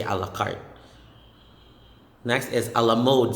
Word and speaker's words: a la carte: just need a burger say a la carte next is a la